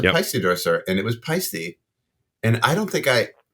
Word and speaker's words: Paiste: say it it's like the ey is silent it's Swiss I don't know what that means but it's not paste it's not paste it is pisy so we have double